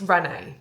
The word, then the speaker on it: Renais: events where you can really do something I think are so much fun because there was barely any and it's pronounced Renee by the way and I didn't know this but it's Emma Watson's gin brand.